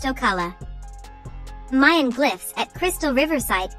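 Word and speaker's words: Ocale: about a province in florida called o'kale pronounced ocala mayan glyphs at crystal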